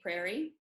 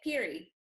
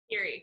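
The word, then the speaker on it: Peerie: is out of the Brooklyn Tweed Prairie. No, is that how you say it? Peary. Peary, yeah. Peary.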